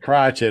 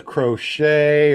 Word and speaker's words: Crockett: afraid to say it it's crotches crotch it okay I didn't know if it was crochet or cry okay watch